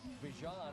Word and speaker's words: Bijan: And Bijan, I beg your pardon, I believe is the pronunciation of the moment.